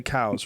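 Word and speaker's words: Coues: And coos deer, right? Yep, coos deer. Do you say coos or cows? Coos. Some people say cows, right?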